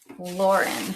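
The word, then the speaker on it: Loryn: Now, to confuse us, Lauren is not spelled like you would think Lauren is spelled. It's spelled L O R Y N. Lauren.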